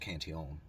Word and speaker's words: Cantillon: just recently and as i like to say kanteon you know he was a french guy so his name was actually pronounced cantion um so this cantion effect the way it